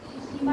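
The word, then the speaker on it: Tsushima: ठीक है, जापान की जो पश्चिमी साइड है वो आपकी जा रही है सुशीमा की तरफ। सुशीमा और इंग्लिश में लिखोगे तो टी साइलेंट रहेगा, इसमें टी साइलेंट रहेगा।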